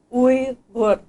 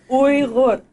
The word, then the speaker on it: Uyghur: words do you guys even know how to pronounce it we were so let's try it we're gonna say we look one more time we look you got it all right awesome so Weaver's